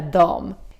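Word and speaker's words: dem: "Jag gillar dom." Which is the Swedish word for them, but it's also pronounced as dom. Just like the Swedish they, which was also dom. So, remember dom dom dom dom dom.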